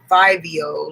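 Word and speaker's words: Fivio: so then he said he called himself fibio like f-i-v-i-o and that's his name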